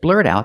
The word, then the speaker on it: blurt out: because it's a secret let's look at pronunciation when you say blurred out the T and blurt is a fast D blurred out blurred out the T and out is a stop T because the next sound is a consonant blurred out that the th and that is a consonant so the T and out is pronounced as a stop T blurred out that link the sounds blurred out that Emily's